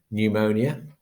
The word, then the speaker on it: pneumonia: example uh that one pneumonia so that we don't obviously pronounce the p in there now you might be